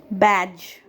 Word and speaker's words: badge: Today we'll learn about a few words where the sound of letter D is silent. Badge, badge, bridge, bridge, edge,